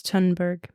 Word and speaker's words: Thunberg: It's Thunberg. Well, the whatever. H is oh, silent.